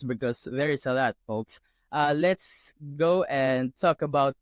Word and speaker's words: Foulkes: It's Folks, spelled differently.